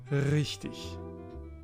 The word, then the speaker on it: richtig: As I told you before, it's like a cat purring. Richtig. R, richtig, which means right. This goes for R's at the beginning of words.